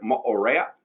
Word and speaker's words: Moorea: I know Moorea, that's how they pronounce it there, Moorea.